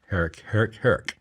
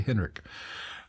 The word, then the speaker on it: Herrick: Sorry, David Allen Herrick. Herrick. Why did I say Henrik?